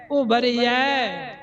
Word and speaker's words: उबरिया: ते एदा उच्चारण उबरिया नहीं, उबरिया। यये नू दलावा लगा होया है, रारे नू सिहारी लगी है, उबरिया।